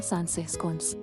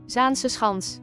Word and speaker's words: Zaanse Schans: 18-ാം നൂറ്റാണ്ടുകളിലെ നെതർലാൻഡിലേക്ക് നിങ്ങളെ തിരികെ കൊണ്ടുപോകുന്ന ഇന്നും നിലകൊള്ളുന്ന മനോഹരമായ ഒരു മ്യൂസിയമാണ് സാൻസെഹ് സ്കോൺസ്. ഡച്ചിലായതുകൊണ്ട് ഇതിന്റെ ഉച്ചാരണം ഇങ്ങനെയല്ല, അതിങ്ങനെയാണ്. Zaanse Schans.